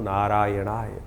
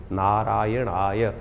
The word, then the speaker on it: नारायणाय: बिल्कुल सही होना चाहिए कई बार लोग मंत्र का जप करते करते थोड़ी सी गलती कर देते हैं नारायणाय नारायण नारायण नारायणाय नारायण नाराय नहीं है नारायणाय ओम नमो नारायणाय इस